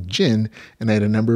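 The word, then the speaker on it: Djinn: i just forgot that the d is supposed to be silent just supposed to be jin and i had a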